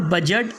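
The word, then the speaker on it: budget: इसके बाद में एज और बजट और गैजेट, यानी इसे हमने बजट पढ़ना है, एज पढ़ना है, गैजेट पढ़ना है।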